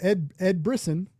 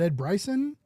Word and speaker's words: Brisson: It was oh my god, what is it was Ed Brisson, and I said his name wrong, and I said I think I said Ed Bryson, and it's and even